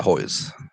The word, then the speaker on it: Hoyes: death metal singer of the day mr hoyles might pronounce his hois how do you pronounce it yeah hoy's hold on he ain't no